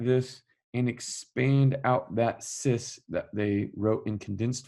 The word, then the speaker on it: cis: We're calling cis.